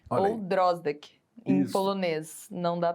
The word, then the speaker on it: Drosdek: Meu nome é Drozdek, Olha ou aí. Drozdek, em Isso.